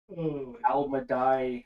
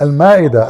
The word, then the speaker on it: Al-Ma'idah: Hey Christian, I have a question regarding Al-Madai. I don't know how to pronounce it. Al-Madai, chapter 5, verse 116 in the Quran. Al-Madai? Yeah, it says Al-Ma'idah.